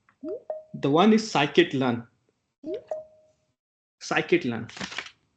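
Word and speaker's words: scikit-learn: one is psychic learn psychic learn this is pronounced as SK learn something else python Library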